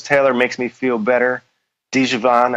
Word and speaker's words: Djavan: Djavan, I think it's pronounced Javan, makes me feel better.